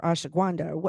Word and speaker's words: ashwagandha: again, I'm like a spokesperson for ashwagandha.